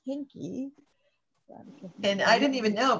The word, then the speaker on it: Hinke: like pronouncing and i i learned today that i've been saying veronica's name wrong all this time it's hinky and i didn't even